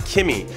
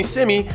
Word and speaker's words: SimmyJonrad: It's CIMMYJONRAD. I just flipped my initials, but it's pronounced Simmy, not Kimmy.